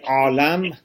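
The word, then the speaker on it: عالم: Alam, which is written like alim, but it's pronounced differently. Alam.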